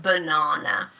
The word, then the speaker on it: banana: So for example um or in a word banana no banana the ah turns into a schwa sound banana and this can also